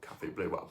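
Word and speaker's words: Café Bleu: blur for sure um Cafe blur BL that's how you say it in French but anyhow thank you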